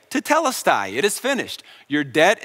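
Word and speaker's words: τετέλεσται: finished is actually just one Greek word it's pronounced to tellus die and it was a very common phrase that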